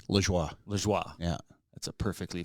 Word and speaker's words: Lajoie: Saying like Southern Ontario, where I'm from, they pronounce it Lajoie. Oh, wow. Yeah. Okay. Like Corey Lajoie, the race car driver. Yeah. Yeah. They pronounce it Lajoie. Okay. When I joined the army, they're like, "No, your last name's Lajoie."